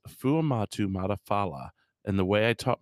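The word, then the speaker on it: Fuamatu-Ma'afala: And the guy's like, Chris Fumata fuck. And so the way I remembered his last name, it's Chris Fuamatu Matafala.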